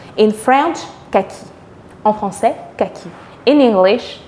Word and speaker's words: kaki: Ceci est la couleur kaki. En français, kaki.